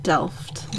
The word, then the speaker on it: Delft: Oh, that's that Delft. Is that how you say it? Mm-hmm. Delft.